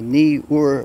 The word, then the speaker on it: Neewer: time lapse with the knee or there's another pronunciation newark that's just got an official chinese said no it's a knee or which makes kind of sense because that would be more phonetic but anyway what are